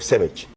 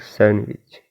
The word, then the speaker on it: sandwich: yeah you're right yeah and bacon toast milk sandwich and he pronounced this word am beon those milk sandwich and m m m b b and look